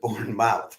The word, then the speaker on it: Bournemouth: live stream of the borne mouth Symphony Orchestra uh I suppose a Brit would probably pronounce it born Bournemouth rather than Bourn mouth but I'm an American